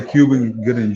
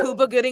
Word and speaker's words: Cuba Gooding: Nah, I would say Cuban Gooding I Jr. really do. Cuba. All right. Trey says Cuba. No, Cuban Gooding Jr. That man's name is pronounced Cuba. Is Cuba? That's it is. Cuba? Cuba Gooding All Jr.